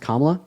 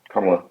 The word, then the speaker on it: Kamala: Also, her name is pronounced Kamla. Kamla. Kamala. Kamala.